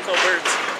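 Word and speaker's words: Colbert: where the tea where the it's solent Steven Cobert it's not it's not St you're probably saying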